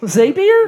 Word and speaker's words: Zapier: The way it's Zapier by the way. What's that? The way I remember that it's Zapier, not Zapier. It rhymes with happier.